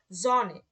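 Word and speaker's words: Sonne: এস, জনে।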